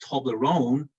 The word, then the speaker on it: Toblerone: International who owns Toblerone and again Toblerone is pronounced Toblerone not Swiss one right the same ending but